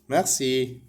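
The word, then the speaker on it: merci: فينتر فينتر رول نعرف ان حرف الار بالفرنسيه بيتنطق كده ميغسي وبرض كلمه مغسي مرسي ميرسي ميرسي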